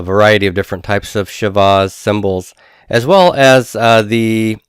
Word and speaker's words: shewa: is a Shiva and that is spelled as sh e W a Shiva or Shiva and this uh this